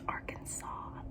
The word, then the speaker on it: Arkansas: It's Arkansas. The S is silent bitch.